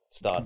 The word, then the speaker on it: Gstaad: I've seen photos of Stad. Is that how you say it? Stuttgart? No, Stad.